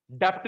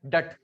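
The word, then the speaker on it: debt: सुनो भाई, public डेट, public डेट, डेप्ट नहीं बोलते, डेट, बी साइलेंट होता है।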